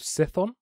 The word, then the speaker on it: Chthon: But very quickly, the god that I was talking about is called Cithon, or it's spelled Chthon, and it's the god of chaos.